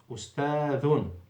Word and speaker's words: أستاذ: If you keep the tongue in the mouth, then 100% you will pronounce it wrongly. And this can be recognized by an Arabic student in the primary school in the first years. He will straight away recognize that you have pronounced it wrongly. With the dhal, always the tip of the tongue goes out.